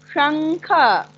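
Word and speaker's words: शंख: Where is your tongue? Show me your tongue, Anaya. Show me your tongue. Shankha. Touch your tongue in your talu. Shankha.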